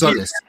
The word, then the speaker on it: Tzolis: It's Tzolis. It's just basically Tzolis. You just don't ignore the first this Tzolis.